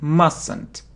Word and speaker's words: mustn't: I mustn't do it. I mustn't do it. Not mustn't, not mustn't. We don't pronounce t, no. Not mustn't, mustn't, mustn't.